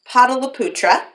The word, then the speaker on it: Pataliputra: One of the things that he did was he chose a capital city, and the capital city is pronounced Pataliputra.